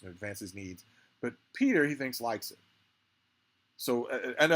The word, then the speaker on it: Piter: Although, here in this chapter, we meet Baron Harkonnen's mentat, Peter, or Piter, however you want to pronounce it. I'm going to call it Peter.